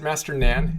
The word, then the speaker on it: Master Nan: and you talk about your work is it Master Nan is that how you properly pronounce his name yes me n yeah so